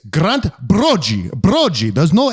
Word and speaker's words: Broggi: It's Grant Broggi.